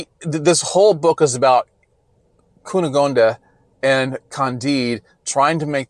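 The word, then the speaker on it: Cunégonde: I've really worked on trying to pronounce her name right, but I think it's Cunegonde.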